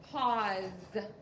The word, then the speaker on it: pause: to underline a u we're going to cross out the E the E doesn't make any sound and if you want to you can put a line through your s because the S makes a z sound in this word and this word is pause number five we are